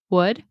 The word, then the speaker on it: would: We do not pronounce the L. It is. I would, which is actually pronounced just like the word would like that.